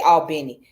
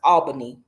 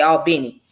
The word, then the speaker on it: Albany: albany georgia or what down here would say albani but it's actually pronounced albany okay but we say albini but those others from the south but anyways